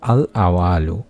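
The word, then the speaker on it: الأول: সন্তান লাভের মনোবাসনা পূর্ণ করে দিয়ে থাকেন সুবহানাল্লাহ উচ্চারণটা হলো আল আওয়ালু আল আওয়ালু যার অর্থই হচ্ছে সবকিছু শুরু আমরা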